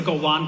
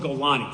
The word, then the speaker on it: Golani: The second way, the same way you said that there's a Golan brigade. There's no Golan brigade. It's called Golani.